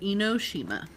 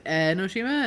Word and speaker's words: Enoshima: Um, it's called Enoshima.